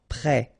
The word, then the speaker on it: prêt: Final T not pronounced. Accent circonflexe like that phonetically gives you the E sound. Prêt.